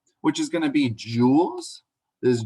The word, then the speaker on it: joule: The joule, pronounced joule, is the SI unit, or the units we're going to use for energy.